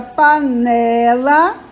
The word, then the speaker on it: panela: tônica é a última paroxítona é a palavra que tem a penúltima sílaba tônica então a palavra panela é paroxítona proparoxítona é a palavra